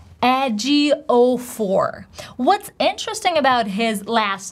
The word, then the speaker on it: Ejiofor: So instead of stressing the very first part of his last name and saying Ejiofor, he actually says, "Hi, I'm Chiwetel Ejiofor."